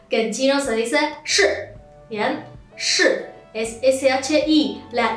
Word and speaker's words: 是: Sino que es como que uno levanta la lengua, ¿sí? Lo pone arriba en el paladar y dice simplemente shi, ¿sí?